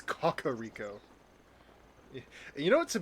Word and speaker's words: Kakariko: Kakar Rico. Apparently, that's how you're supposed to pronounce it. I always just say Kakaro, but I guess that's my uh I guess that's my Midwesterner coming out. Um, but yeah, that's how I always pronounced it. But I guess I'm wrong. It's Cocoa Rico.